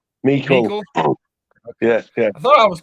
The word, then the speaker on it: Meikle: Is it like Michael? How do you say that? Meikle.